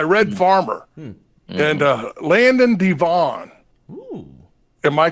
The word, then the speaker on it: DeVaugh: gang Yeah by Red farmer and uh Landon Devon am I correct with that one everyone says I I do not pronounce names right I mean I mean you